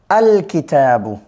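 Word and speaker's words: الكِتَابُ: আলিফ লাম এটা আলাদাভাবে উচ্চারিত হবে, আল কিতাবু হবে। কেমন? কিতাবুনের সাথে আলিফ লাম যোগ করলে আল কিতাবু হবে, আল কিতাবু।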